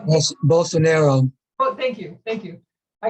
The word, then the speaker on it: Bolsonaro: the media broadcast but uh about uh brazil bola bella saris is that how you say his name i don't i don't know if i'm saying his name correctly but how well bolsonaro thank you thank you i get him confused